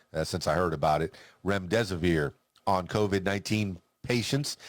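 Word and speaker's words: remdesivir: of the antiviral medicine REM death-sphere REM disappear I know I've been mispronouncing that over the last couple of weeks since I heard about it REM des aveer ANCOVA 19 patients said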